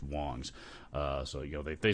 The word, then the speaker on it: Wangs: i think it's pronounced wong's it's spelled wangs w-a-n-g-s but i think it's pronounced wong's uh so you know